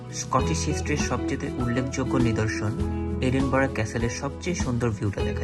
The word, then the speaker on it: Edinburgh: প্রথম পর্বে থাকবে রাজধানী এডিনবার্গ, যদিও আমরা এডিনবার্গ উচ্চারণ করি কিন্তু স্থানীয় লোকজন উচ্চারণ করে এডিনবরা।